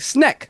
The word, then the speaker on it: Snck: $10 Super Chat my my name is pronounced like snack snack yes snack if